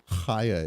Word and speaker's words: Chaya: Chaya is how you pronounce her name.